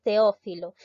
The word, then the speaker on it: Teófilo: ver veamos otro ejemplo la palabra es teófilo en este caso he separado la t de lado he separado estas dos vocales porque estoy observando una concurrencia boca liga vocálica denominada hiato ustedes saben que dos vocales abiertas se separan segundo paso reconozco la sílaba tónica de off filo entonces vemos que la mayor fuerza de voz recae en la sílaba tercer paso identificar el